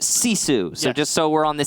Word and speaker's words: GiFu: familiar with the team gif you give Fuu is pronounced C Sue's just so we're on